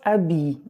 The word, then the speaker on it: habiller: But because habiller begins with a silent H, what happens? The me becomes m apostrophe. And so instead of saying je me habiller, no, that doesn't sound right. You simply say je m'habille avant le petit déjeuner, okay?